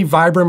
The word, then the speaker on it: Vibram: lugs here and because this is a vibram or vibram people pronounce it different i'm going to say vibram for this video it does really grip